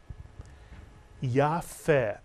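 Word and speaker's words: יפה: And in this word, the pe does not have a dagesh, and it's pronounced as the English letter F. And the word is yafeh, mitsuyan.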